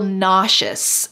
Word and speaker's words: nauseous: Notice the pronunciation here. The S in the middle sounds like shh.